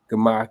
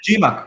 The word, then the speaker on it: Gemach: Gemach is a... that's how you say it, Gemach? Yeah, Gemach. I always call it GMAC.